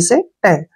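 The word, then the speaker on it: scent: जैसे next word है एस सी ई एन टी फिर एस के बाद सी आ गया तो सी को हमने नहीं पढ़ना है एस से हो गया स और ई से हो गया एक की मात्रा एन से हो गया न और टी से ट सेंट क्या पढ़ेंगे इसको सेंट सेंट मीन क्या होता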